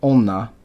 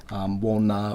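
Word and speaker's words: おんな: Wo has been changed to o. So in modern Japanese, you're not going to see them like this. It's going to be onna, it's going to be otoko, it's going to be otome. It's not going to be wotome, wonna, or wotoko.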